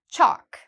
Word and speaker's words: chalk: Chalk, same thing. Again, we have the A here, which means no L, chalk.